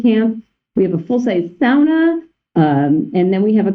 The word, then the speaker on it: sauna: that sauna is pronounced sauna, and that I did actually go to Finland, and that is how they pronounce it.